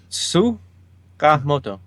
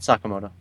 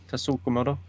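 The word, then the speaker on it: Tsukamoto: So D is saying Sukamoto, not Sakamoto. Sukamoto. Okay. Tasukamoto. We will bring D on to have a show of how to pronounce words.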